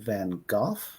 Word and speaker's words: Van Gogh: do also know that it's in English pronounced both of Van Gogh and Van Gogh right yeah I remember